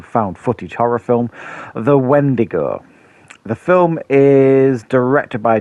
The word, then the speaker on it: Wendigo: to say its name it rhymes with window but uh we're here to see some right so uh wendigo when to go when